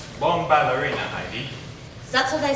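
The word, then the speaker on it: Bombalurina: Thus, you could wake up such cat Bombarolina. I believe her name is pronounced Bomballerina, Heidi.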